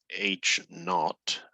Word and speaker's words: H naught: this symbol right here looks like H sub o it's actually red H naught n a u g h t if you just write H Sub Zero H sub o that's fine you don't have to know it's called H naught but that's how you pronounce it and this is what's